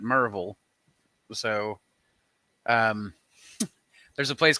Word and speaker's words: Maryville: We also have Maryville, which is Maryville, but we pronounce it Merville.